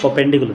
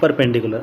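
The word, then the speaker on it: perpendicular: परपेंडिकुलर परपेंडिकुलर नहीं परपेंडिकुलर। Are silent नहीं है इसमें।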